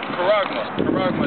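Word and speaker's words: χάραγμα: If you don't get this truth, Karagma. That's how you say it in the Greek.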